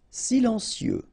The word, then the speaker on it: silencieux: Silencieux. Final X not pronounced, okay? This part here will be pronounced like cieux, okay?